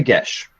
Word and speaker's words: geas: Would you accept a gesh? A what? A gesh. A It's spelled gaze? Geas.